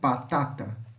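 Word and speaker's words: patata: batata tá essa aqui descrevemos com pé e pronunciamos com P ok batata A Tata português batata italiano Patatá a Alcachofra em italiano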